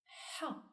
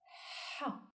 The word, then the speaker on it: ح: So we say Ha, Ha. The seventh letter is pronounced Kha and is written from right to left on the line with a going down semicircle shape.